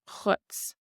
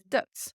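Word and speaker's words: dhuit: And again, you do have the option of putting in a shevu, the letter H after the D here, which would make it Chutz. Chutz. Or you can use Dutz.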